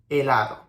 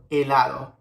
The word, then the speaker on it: helado: keep in mind, every time you see a H, you don't have to pronounce it. So we have hola, habitación, helado. Hola, habitación, helado.